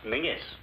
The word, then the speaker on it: Menzies: And Menzies is pronounced Mingus.